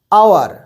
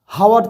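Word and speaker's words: hour: অ্যান আওয়ার তখন কিন্তু আওয়ারের উচ্চারণ এইচ এর উচ্চারণ হয় না আওয়ার হাওয়ার তো নয় তার জন্য ওখানে আওয়ার যেহেতু আ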